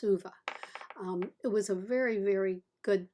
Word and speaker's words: Ove: I think it's pronounced Uva.